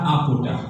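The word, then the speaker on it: עבודה: Ibadah itu berasal dari kata avoda, tulisannya avoda, tapi bacanya aboda, ya.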